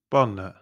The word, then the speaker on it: banne: Bane, bane, bane, banne.